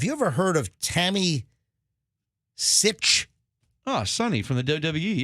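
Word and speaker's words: Sytch: last name is spelled her last name is spelled s-y-t-c-h it's tammy sitch and she goes by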